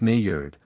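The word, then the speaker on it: Njord: as three young women Nord often spelled and iord pronounced Nord father of fry and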